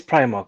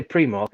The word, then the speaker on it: Primark: aldi or aldi was it primal it is primark but if people say pre-mark i will slap them it's pretty wrong i